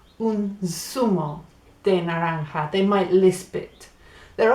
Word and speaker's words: naranja: the word orange and it's not norwich it's not nourish its naranja it's spelt n a a n je a so that je a on the end makes a ha naranja it's funny nara ha